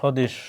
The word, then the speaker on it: স্বদেশ: শব্দের শুরুতে বফালার উচ্চারণ হয় না, যেমন ধ্বনি।